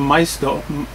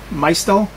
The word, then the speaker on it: Maisto: of this it's from my stole my stole I think that's the way you pronounce it my still it's an